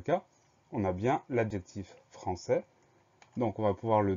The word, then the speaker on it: français: Le mot suivant, c'est un mot qu'on connaît bien, c'est le mot français. Première syllabe, franc, F-R-A-N.